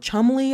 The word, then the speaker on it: Cholmondeley: You see how the Marchioness of Cholmondeley, oh God, I hate that word, Chumley, I think it's pronounced.